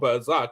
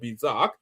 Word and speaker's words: berserk: goes uh bers and it's called bizark it's called bazak not bizark so it doesn't even